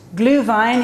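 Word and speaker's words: Glühwein: through March generally and it's it's gluhwein it's pronounced gluhwein it is a German wine German wine which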